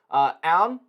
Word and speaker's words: Aune: Aune, I believe is how you say that last name, only had 1,991 yards, 9 touchdowns, 9 picks last year.